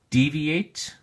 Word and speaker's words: deviate: at your flash card deviate has three syllables and the emphasis or stress is on the first syllable D so we say deviate deviate notice that the